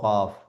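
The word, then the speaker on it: قاف: দ্বিতীয় লাইনের যে প্রথম বর্ণমালাটি এটি হলো বড় কাফ। এ এই দেখতে পাচ্ছেন দুটো নোক্তা আছে বড় কাফ। এ বড় বড় কাফকে আমরা কিভাবে পড়বো? হালাক থেকে কন্ঠনালীর ভেতর থেকে আওয়াজ বেরিয়ে আসবে।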